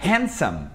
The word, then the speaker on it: handsome: O mesmo vale para a palavra handsome. Handsome, que é bonito para homens.